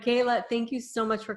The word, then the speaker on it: Kela: it there so Kayla so I said your name wrong I said Kella right Kayla thank you so much